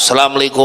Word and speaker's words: assalamualaikum: Kalau tidak ada tasydid di atas sin ucapan assalamualaikum, sudah bisa dipastikan sholatnya batal dulu-dulu.